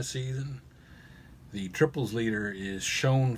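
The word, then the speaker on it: Chone: the triples leader is shown Figgins or Sean Figgins I think he pronounced it with 27 triples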